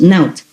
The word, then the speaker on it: Not: And over here I have written like Naut, N-O-T, pronounced Naut.